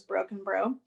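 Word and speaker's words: Brockenbrough: by martha broken bro whose name i've been was pronouncing this entire time but it really is broken bro um and it is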